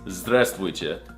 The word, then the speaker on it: здравствуйте: No, that's not how you say it. It's здравствуйте. Did you not learn anything from this video?